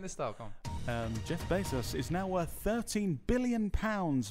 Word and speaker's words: Bezos: In other news, Jeff Bezos.